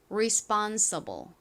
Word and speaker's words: responsible: 그래서 responsible responsible과 같이 발음이 됩니다.